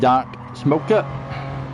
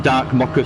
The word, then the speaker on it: Dark Mocker: Sorry, I always forget. I pronounce your name wrong. Dark Mocker, sorry. I've noticed a lot of people pronounce it wrong, strangely. Yeah, not many people have clicked on that it's meant to be a dark coffee.